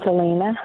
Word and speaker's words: Alina: Elena, I'm guessing it's Elena, in Kansas City, Kansas. Go Chiefs. Did I say it right or is it Alina? You did. It's Alina.